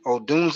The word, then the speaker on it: Odunze: Odunze. I think that's how you pronounce his name.